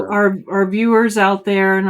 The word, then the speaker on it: Anishinaabe: So I'm going to pronounce this wrong. Anashibi? No, that's not the name of the school. Anashiba? Anishinaabe. Anashinabe. Okay, Yeah, yes. So Anishinaabe.